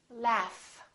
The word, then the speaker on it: laugh: The word laugh. This gh is actually an F sound, right?